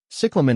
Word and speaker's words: cyclamen: Cyclamen is pronounced as cyclamen. The emphasis is on the first syllable, with the E in the second syllable sounding like ah.